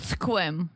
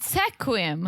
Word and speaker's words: Sequim: Mike from 90 day lives this is called Sequim yes that's what you're saying I said Sequim Sequim that's how they spell it um sequence sequence really it looked like